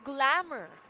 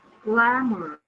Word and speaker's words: glamour: Glamour is Yeah. only consists of two syllables, gla and more. So the first syllable is stressed, right?